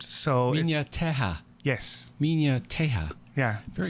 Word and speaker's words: Minha Terra: Portuguese, in Portuguese, it's a little weird because their H actually has a Y sound. Nice. And when you put two R's together, it has an H sound. So Minha Terra.